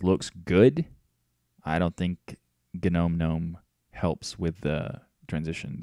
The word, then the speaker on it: GNOME: so I don't think gnome is a very good thing for new users I mean I'm sorry I pronounced it wrong genome no I don't think